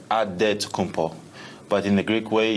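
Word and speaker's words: Antetokounmpo: helps set the record straight of how you pronounce it in a field wait we gotta save with a D so it's odd dead to come Paul but in the Greek way you save at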